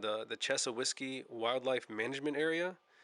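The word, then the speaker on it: Chassahowitzka: this place called the chess of whisky Wildlife Management Area I know it's not spelled like that but that's how the locals say it chesil whiskey so you go into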